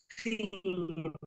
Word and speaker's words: Sin: people of Jericho worshiped seen the moon God which is spelled sin SI n and uh this is